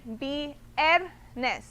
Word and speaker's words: viernes: So you're gonna read it viernes, okay? So the second to last syllable, that's when you're gonna increase your voice, okay?